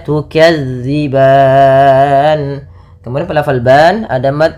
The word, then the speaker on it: تُكَذِّبَانِ: Kemudian pada lafal tukadziban, lafal zal, hati-hati teman-teman di lafal melafalkan zalnya, jangan diganti dengan huruf zai, jangan tukadziban, tapi tukadzi. Bagaimana cara melafalkannya? Ujung lidah menempel dengan gigi seri atas. Sehingga dia pelafalannya terdengar za bukan za. Maka tukadziban.